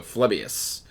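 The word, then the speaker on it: Phlebas: I think that's pronounced with an F, so Phlebius.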